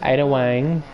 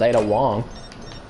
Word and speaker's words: Ada Wong: Miss Ada Wang. But you can't. Secret weapon powder. Actually, I think it's pronounced Ada Wong.